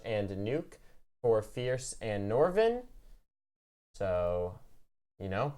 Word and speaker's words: Nordavind: that's a fun fact you don't say nor to vent you get rid of all the DS it's nor of it more than that's how you say her name yes just for a